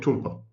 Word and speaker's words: tulpa: talpa or the tulpa I prefer to call it tulpa although the correct pronunciation is talpa I call it tulpa